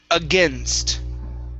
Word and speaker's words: against: there um and that's a typical error for those who speak arabic with the n n-s-t sound okay so you want to you feel like you need to add in an extra vowel sound so just watch that